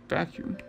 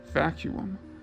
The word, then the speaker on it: vacuum: as you can see the two u's make different sounds and have a syllable split between them the same way the